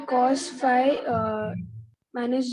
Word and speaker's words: phi: be gx this gy this angle is fee since phi is denoted in this manner this is phi and this is theta how do you pronounce this as phi phi now get it foreign